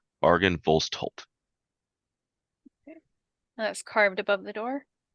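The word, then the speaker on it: Argynvostholt: carved into the the entrance doors the word Argan vostal I butchered the out of that a RG y n b o s t h o l t Argan volt that's carved above the door into the doors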